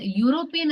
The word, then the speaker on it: European: The sound, it sounds like U.